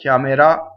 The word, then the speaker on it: chiamerà: Chiamerà. So the accent is on the A, so the E is closed.